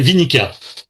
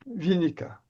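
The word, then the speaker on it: Winicka: Vous l'avez prononcé tout à l'heure rapidement, j'ai pas noté. Elle s'appelait Vinica. Vinica.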